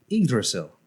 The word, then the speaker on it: Yggdrasil: all of the worlds and that tree is pronounced yggdrasil and it's so that that's the story but